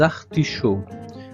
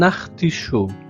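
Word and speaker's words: artichauts: Ce sont des liaisons chaud sans prononcer le t et le s final. Ce sont des artichaud. Au singulier un artichaud.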